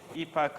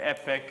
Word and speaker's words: epoch: batch size epoch iteration you could probably pronounce it epoch or epoch I and I'm guessing both are acceptable pronunciations so I want to